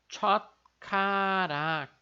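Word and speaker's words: 젓가락: Em função desse chiat que a gente tem aqui, desse Szinho que fica em patina embaixo da sílaba, ele vai acabar fortalecendo o som aqui do nosso K que vem depois. Então vai ficar chotkarak, né? Com esse som de K assim, mais forte.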